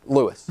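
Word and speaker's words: Louis: Lewis we're not Americanizing Lewis's name as if it were L-U-I-S from the Spanish origin. It's L-O-U-I-S. It's just pronounced Lewis. So no need to do the Spanish pronunciation. It's just Lewis.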